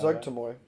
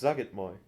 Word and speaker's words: Zugitmoy: Zugtamoy. It's Zugitmoy. There's no E.